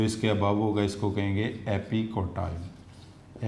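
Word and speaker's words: epicotyl: जो इसके बिलो होगा इसको कहेंगे हाइपोकोटाइल, और जो इसके अबव होगा इसको कहेंगे एपिकोटाइल। एपिकाइल भी पढ़ते हैं कुछ जगहों पे, वो टी साइलेंट।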